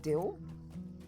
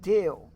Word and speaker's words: Dale: Keep saying Dill. No, Dale. Dill Dale. Dale. There's a clear clear pronunciation difference that I do there.